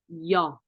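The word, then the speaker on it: ㅛ: And second one is yo, yo. Okay, so it's a different sound.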